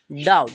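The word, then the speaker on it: doubt: वी टी ठीक है इसे हम पढ़ते हैं डाउट क्या पढ़ेंगे डाउट इसका उच्चारण क्या होगा डाउट ट होगा एंड डाउट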